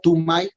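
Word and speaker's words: Du Mai: es el 4 de tumán y se pronuncia to my ajá tuma y 4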